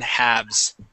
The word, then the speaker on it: halves: shelves and wolves okay the L is silent in halves okay all right um